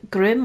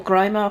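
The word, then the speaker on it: Grimme: so you've got the the Grim or grimer however you want to pronounce it the make of the one we've got now um they have a self-propelled Curry I wanna I wanna say grimy let's do Grimmy 471 000 um for that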